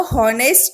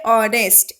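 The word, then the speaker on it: honest: हम इसको हॉनेस्ट नहीं बोलते, हम इसे क्या बोलते हैं, ऑनेस्ट।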